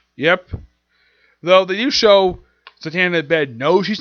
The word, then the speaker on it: Zatanna: Also, she kind of basically has this minor gag in the book where she frequently mispronounces her name. It's Zatanna.